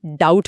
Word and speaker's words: doubt: इसमें बी अक्षर साइलेंट यानी मौन होता है। अंग्रेजी भाषा की यही कुछ बातें हैं जिन्हें समझना पड़ता है। बी लिखा है लेकिन उसे बोलना नहीं है। हम इसे डाउट पढ़ते हैं, डाउट नहीं।